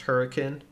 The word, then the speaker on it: Hurricane: from there we continued back west um towards hurricane utah or spelled hurricane but we were informed that locally it's pronounced hurricane so if you want to fit in and